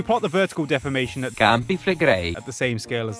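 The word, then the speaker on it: Campi Flegrei: The movement is impressive, but the inch or so a year Yellowstone moves pales in comparison to It's pronounced campiflegrei.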